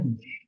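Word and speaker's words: niche: জিনিস বানাচ্ছে বিষয়, জিনিস বানাচ্ছে বিষয়, সাবজেক্ট না, উচ্চারণটা নিস, নিস মানে সাবজেক্ট বা বিষয়, তুমি দেখেই বলো,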